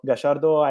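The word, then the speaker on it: Gallardo: my friend is about gashardo and i try with argentinian pronunciation of his name because i love this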